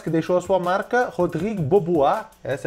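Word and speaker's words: Rodrigue Beaubois: tempo ninguém mas que deixou a sua marca rodrigo bobô a essa é a pronúncia chegou apenas quatro temporadas na nba e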